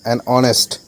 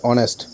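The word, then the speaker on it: honest: preposition correct answer হবে এখানে option B এ অনেস্ট অনেস্ট উচ্চারণটা হবে অনেস্ট অনেস্ট আগে আমরা এন ইউজ করব ও থেকে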